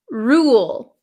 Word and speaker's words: rule: roll roll okay the second one is Rule Rule Ru there there's almost a w sound rule W Ru rule okay and the last